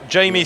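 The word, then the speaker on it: Jmee: And in lane 8 is Jamie Samuels. And when I say Jamie, it's spelled J-M-E-E.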